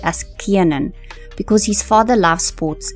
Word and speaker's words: Kiernan: Most people call him Kiernan, but he has actually clarified that his name is actually pronounced as Kiernan because his father loves sports and he actually named him after a rugby player.